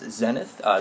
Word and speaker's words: Xenith: Well, first thing off, I wanted to give a shout out to a username known as Xenith. This is actually how you pronounce it right here.